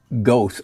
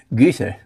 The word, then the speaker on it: Goethe: mispronounced by most Americans as Goethe or Goethe. Goethe. It's umlauted. See, I did study German.